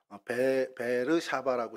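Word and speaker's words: באר שבע: 그리고 그 밑에 부엘세바라고 하는데 여기가 베르샤바라고 지금은 이스라엘 이제 발음으로 베르샤바라고 합니다.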